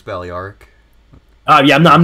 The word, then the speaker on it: Balearic: trying to recruit bailly arc slingers oh it's pronounced ballyark balearic from the islands yeah daliaric okay i always call them baleric all right i'm pretty sure it's ballyark oh yeah i'm not disputing man i just